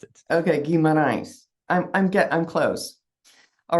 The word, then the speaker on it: Guimarães: Now, I'm not saying that quite right because this is in Brazilian Portuguese.